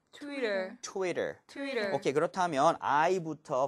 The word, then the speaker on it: Twitter: 그래서 이것도 리을처럼 발음해 주세요. 해볼게요. 트위터. 트위터.